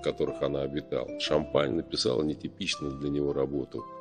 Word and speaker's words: Champaigne: французском живописцев ломан происхождение п де Шампань иногда произносится шампейн пока-пока до свидания